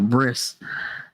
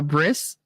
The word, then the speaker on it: bris: for his you know bris which I used to pronounce as Bri I didn't know that Brie was a cheese so you got to be very careful bris and a Brie like